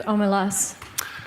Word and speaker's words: Omelas: Can I correct pronunciation? Of course you can. I think it's Omelas.